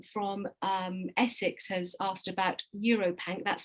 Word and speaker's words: EuroPanc: Also, I think John from Essex has asked about EuroPanc. That's spelled UROPanc.